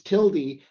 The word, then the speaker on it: tilde: avoid mansplaining but it's it's tildy however you want to pronounce it's your own business but it's the tilde it's a little squiggly thing but it's it's tilty but you i'm not